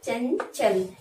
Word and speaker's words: चंचल: लिखने में अनुस्वार लगाएंगे, लेकिन जिस वर्ण का वो होगा पंचमाक्षर उस वर्ण का उच्चारण कहेंगे।